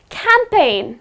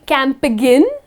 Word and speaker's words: campaign: or it's a campaign you do not say camp again okay that's the incorrect pronunciation it's just campaign where the letter g goes silent and then the another